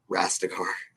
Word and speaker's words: Rastegar: Rastegar.